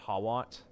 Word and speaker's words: Hawat: hawat harwat however you I think it's pronounced harwat but it's spelled hawat um through harwat he's